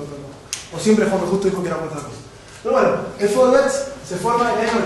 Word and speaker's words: Vorwärts: pueden pronunciar ellos mejor, sería algo así como Vorwärts, ¿no? Más o menos. ¿Cómo se dice? Vorwärts. Bueno, ella lo dijo mejor.